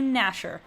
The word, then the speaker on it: Gnasher: So, I mean, that's with a G, I guess, a silent G at the beginning, but we'll call you Gnasher.